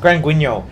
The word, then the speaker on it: Grand Guignol: Grand Guignol, I think. was Yeah, the best. Grand It's Guignol. Grand Guignol.